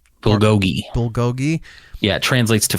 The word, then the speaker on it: bulgogi: How's it pronounced? Bulgogi.